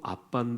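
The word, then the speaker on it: Abba: 아람 으로 아빠 않은 뜻은 아빠입니다 아시겠죠 예 발음도 아빤 데 우리말로 번역하면 뜻도 아빠의 똑같습니다 아버지는 요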